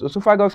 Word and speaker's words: esophagus: leads into the esophagus esophagus is spelled o e s o p h a g u s o e s